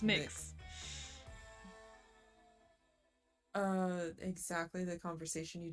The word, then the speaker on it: Mx: pronounce mix makes mistakes pronounce mix or mux and sometimes mx mux is disgusting it has to be mix yes we're deciding for the world yeah it's mix uh exactly the conversation